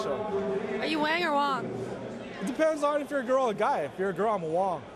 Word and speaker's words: Wang: Wong. That's Wong. Rhymes with schlong, long, dong.